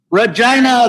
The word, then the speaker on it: Regina: we're in regina saskatchewan regina the city that rhymes with fun that's it that's what